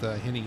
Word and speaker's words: Henny: We're right aboard with Henny there, the 91. It's pronounced Henny, Tony. Henny, isn't that what I said?